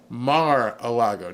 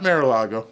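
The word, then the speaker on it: Mar-a-Lago: mad at me CU I said Mar Lago it's like par so it's mar mar Lago said you you live in South Florida you should know how to pronounce it correctly all right Mar Lago not marago Mar Lago but anyway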